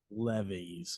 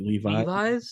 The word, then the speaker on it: Levis: That's funny because I'm also thinking quarterback here, and I'm thinking of your first round pick, Will Levis, or how do you say it? Levi's? Levi's? No, it's Levis.